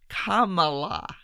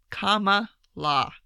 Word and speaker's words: Kamala: jumped ahead of Kamala I will pronounce her name like that for forever now because that's how she she taught us all how to pronounce her name in the YouTube video it's Kamala comma law yeah that was that